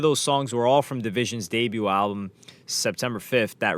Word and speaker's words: dvsn: became the Toronto Duo whose name is spelled division dvsn they were signed to oio